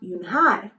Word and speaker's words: Unhei: "It's spelled Unhei. It's pronounced Unhei."